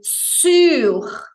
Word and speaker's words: sur: falar em cima é sur biquinho francês lábios de U som de i Você já viu como a palavra é escrita tem o r final que deve ser pronunciado su sur su sur